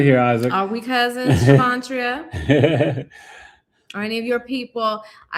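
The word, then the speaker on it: Shavontria: Oh, her name is Shavantria. How do you spell it? SHA. Oh, wait. SHA. VON. TRIA. Shavantria.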